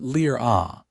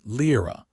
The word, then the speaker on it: Lira: Not Lira, the way most humans said it, flattening the vowels, but Lira, with the slight guttural stop in the middle that Orcish required.